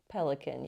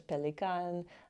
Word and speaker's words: Pelikan: Pelican you can say in America. German is Pelikan. I think the company actually says pronounce it however you pronounce Pelikan in your country, but anyhow it's rose quartz.